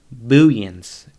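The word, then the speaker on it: Booyens: i butchered your name i believe it's it's bullions b-o-o-y-e-n-s um he's uh he's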